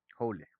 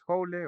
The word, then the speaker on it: joule: Joule. Se escribe joule, pero se pronuncia joule.